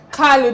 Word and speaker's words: Kalu: KALU, did I pronounce the name properly? KALU, right? Yes. Because I needed to put a touch of that Igbo pronunciation on your last name.